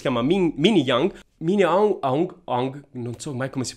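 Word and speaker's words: Aung: meravigliosa che si chiama mini mini yang min yang ha un ong non si pronuncia è di origine della sua famiglia di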